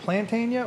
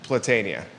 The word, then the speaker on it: Platania: Is it Plantania or is it Platania? Platania.